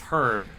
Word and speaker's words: herb: they left uh the the proper is Herb ey butterfly awesome it's pronounced herb please her I made three